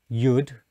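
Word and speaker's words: יוד: so you have the letter below which is pronounced yud the letter below pronounced hey the letter below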